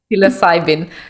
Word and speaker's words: psilocybin: Just think of it silly Simon, because it's silly Simon. Psilocybin.